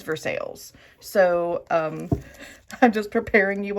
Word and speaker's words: Versailles: It's not Versailles. No, friends. It is Versailles.